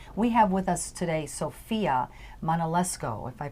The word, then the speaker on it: Sofia Manolesco: And we have with us today Sofia Manolesco, if I pronounced that right.